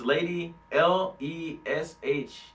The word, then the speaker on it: Lady Leshurr: It's Lady Leisure or Lady Leisure, but it's Lady Leshurr.